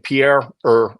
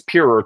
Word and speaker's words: Pierer: By the way, I looked up how to pronounce this, Pierer, and I see most Westerners are saying Pierer Mobility, and I'm advised in Austria it's Pierer, 2 syllables, so I'm going to go with that.